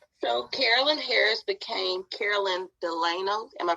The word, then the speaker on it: Delano: for them right so carolyn harris became carolyn delano am i pronouncing it correctly yes yep when did you